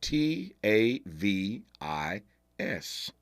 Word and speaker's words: Tavis: never interviewed anyone with a first name spelled t a v i s I thought I was the only one this brother pronounces his first name Tavis but this should